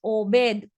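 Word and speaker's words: עובד: Hay otra palabra que se escribe exactamente con las mismas consonantes, pero se lee de una forma diferente y es Obed. Y Obed significa siervo o trabajador.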